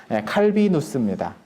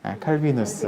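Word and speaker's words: Calvinus: 그냥 그 당시에는 라틴어로 글 쓰는 게 일반적이었으니까 지식인들이 글 쓸 때 라틴어로 쓰니까 라틴어식 발음은 칼비누스입니다. 칼비누스.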